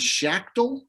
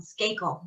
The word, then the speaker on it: Skakel: was an interesting and i always get his name wrong uh last name was shaktil shackle shake um skakel john the skakel right i uh and that you recognize it because you corrected me there that name is